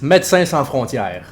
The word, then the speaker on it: Médecins Sans Frontières: Tell us how to pronounce it properly. Yes! Médecins Sans Frontières.